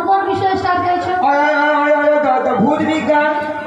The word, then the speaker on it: ভৌত বিজ্ঞান: আচ্ছা মাসি কোন কোন বিষয়ে স্টার চাইছো দাও ভূত বিজ্ঞান ভূত বিজ্ঞান নয় বলো ভৌত বিজ্ঞান হ্যাঁ ভৌত বিজ্ঞান ভৌত বিজ্ঞান হ্যাঁ ভৌত বিজ্ঞান ভৌত নদীর বিজ্ঞান